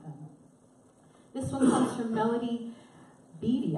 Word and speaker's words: Melody Beattie: This one comes from Melody Beattie, I think is how you say her name. Is that right? Yeah, Melody Beattie? Okay, very good.